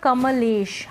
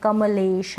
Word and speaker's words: कमलेश: अब यहाँ पर कमलेश, हम इस नाम को ऐसे नहीं बोल रहे हैं कमलेश, हम बोल रहे हैं कमलेश।